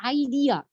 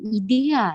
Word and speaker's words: idea: meaning ditelan sound speakers ideal bukan idea salah Memang sih artinya gagasan cuman dibacanya bukan idih sayang tapi hadiah-hadiah gagasan